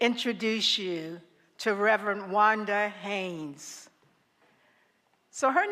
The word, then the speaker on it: Haynes: this pronounced like Isaac Hayes she said no it's pronounced like Haynes the underwear I said okay Reverend